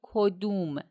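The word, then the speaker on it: کدوم: Please note that in spoken Farsi, it is pronounced as "kodum" example: which one do you like?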